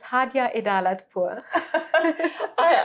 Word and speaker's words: Hadjeh Pour: Yeah, my name is Hadjeh Pour.